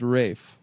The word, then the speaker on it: Ralph: Uh, but it is pronounced Rafe.